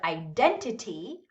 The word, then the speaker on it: identity: stress the one syllable so in the word identity identity where do you hear that longer louder higher syllable identity identity the second syllable right so it would